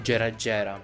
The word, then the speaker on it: Gera Gera: Oh, poi Gera Gera, mamma mia ragazzi, un po' di inglese imparatelo. Cioè, giapponese, scusatemi. GE si legge GE.